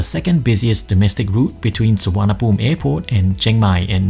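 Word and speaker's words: Suvarnabhumi: this airport right it's suwana boom which in Sanskrit means land of gold I've learned it the hard way that written anglicized Thai isn't pronounced the way it's spelled with that done let's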